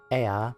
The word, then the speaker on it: Ea: When the vibration of vocal folds was still required to convey our thoughts and intention, Ea, I believe, was the pronunciation used when referring to our people.